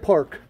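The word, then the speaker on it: Paak: park how the hell do you get park it's park it's pronounced park p-a-a-k r i thought it was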